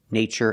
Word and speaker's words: nature: We pronounce the TU with the ch sound, like chicken, when there's no stress after the T. In these words, there's no stress after the T, so we pronounce it ch.